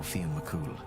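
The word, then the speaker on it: Fionn mac Cumhaill: Concerns itself with the exploits of hunters and bards especially the Fina led by the hero Fen Mcool. Oh, so that's how she's name he's pronounced.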